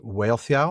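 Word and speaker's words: Wealhtheow: I always struggle with the wife of Frothgar's name is Whale Theo. That's right. You got it. I struggle with the pronunciation.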